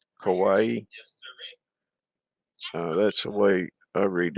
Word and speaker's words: kawaii: the purest form kawaii is that like hawaii but with the k kawaii that's the way i